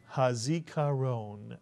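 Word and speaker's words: הזכרון: the CU with the Kats and the last syllable ran is correct let's put the word together hazikaron mitsu Yan hazikaron mitsu and the word zikaron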